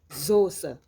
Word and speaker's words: Soße: La lettre S, qui peut se prononcer en Z, en début de mot, peut aussi se prononcer comme un S, die Soße.